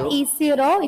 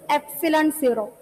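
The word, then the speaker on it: ε₀: F equal to 1 by 4 by E0 into Not E0, it is pronounced as epsilon 0.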